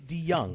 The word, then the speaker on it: DeJong: That's DeJong. No, but you pronounce it DeYoung.